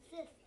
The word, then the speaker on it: cyst: So this word, it has a silly Y pretending to be short I.